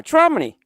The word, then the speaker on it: Tramini: Yeah, Tramini. Belle, you got it. That's the correct pronunciation spelling for it. Is Tramini.